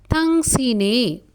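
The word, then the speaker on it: 당신의: இந்த ஐன்ற இந்த சொல் வந்து ஒரு பெயர் சொல்லோடு சேரும்போது உச்சரிப்பு வந்து ஏவாக உச்சரிக்கப்படும்.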